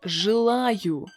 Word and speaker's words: желаю: So the first word is желаю. Желаю. As you can see, we need to pronounce a vowel ye as y.